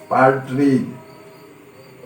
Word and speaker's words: partridge: यहाँ D silent है, इसका उच्चारण नहीं होता है, पार्ट्रिज।